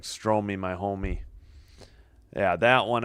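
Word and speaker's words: Strome: I think it's Stro. I used to say Stroy. Pretty sure it's Stro. Do I have the right one? Yeah. Stro, Stro, and Stro. Okay. Not like Stroy, my homie.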